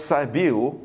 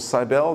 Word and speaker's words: Cybele: She was identified as Cybele, or Cybele, depending on how you want to pronounce it, of the Phrygians.